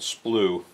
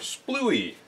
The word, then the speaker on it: splue: In the composites industry, thickened resin is called splue. S-P-L-U-E. Some people mispronounce it and call it splooey. Not splooey.